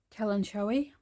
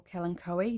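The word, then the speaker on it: Kalanchoe: it it's a succulent Kellen Joey or Kellen Coe depending how you pronounce it um and I've got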